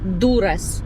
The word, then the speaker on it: Дуррес: В Дурес, правильно, Дурес. Наголос на перший склад.